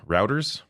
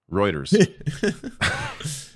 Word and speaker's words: Reuters: uh rter later on is routers Reuters there a moment of levity for myself mispronouncing Reuters um it's because people